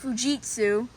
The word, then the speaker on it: Fujitsu: So yeah, anyways, let's start with this Fujitsu or Fujitsu. Most of them, it's actually pronounced Fujitsu.